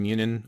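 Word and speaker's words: Muninn: We know about Hunin and Munin, or Hugin and Muggin, depending on how you want to pronounce it, which are his ravens,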